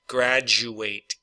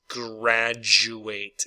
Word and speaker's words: graduate: Graduate, graduate. Okay, so because the U has the Y sound in it, that pretty much combines with the D to make some kind of a J sound.